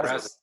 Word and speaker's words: Brazos: What, like, Brazos? Yeah. Yeah, Brazos.